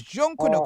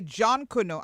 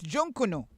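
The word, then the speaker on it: Junkanoo: The word Jonkunu, And it's Junkuno, because we say John Kuno out here, but it's Junkuno.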